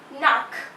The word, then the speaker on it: nach: Nach. CH. The pronunciation of CH is like K of Hindi alphabet. K. So nach means after or past.